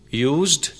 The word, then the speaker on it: use: Use ke pronunciation, talaffuz ke bare mein yaad rakhein ki agar ye batar verb istemal hota hai to ise use padhte hain, yani z ki sound aati hai, aur batar noun istemal ho to ise use